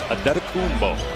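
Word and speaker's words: Antetokounmpo: Pronunciation guide in the Milwaukee game notes, it is Adetokumbo.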